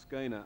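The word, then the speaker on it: Schoenherr: confused about this but Forry Ackerman tells me that it's pronounced scanner and I don't believe him i believe it's pronounced shawn her or something like that I'd means roughly beautiful mr.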